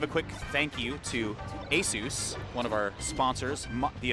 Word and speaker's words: Asus: the Dome wall That's how much we appreciate Asus oh my God and it's pronounced Asus right not Asus Jesus Is Right